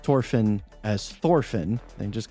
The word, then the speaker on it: Thorfinn: Now I always call him Thorfinn, because that's how they pronounce it with in the Japanese, and that's what I always hear when I'm watching the show.